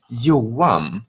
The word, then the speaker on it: Johan: Let's start with you pronounce it exactly how you would pronounce it. Johan.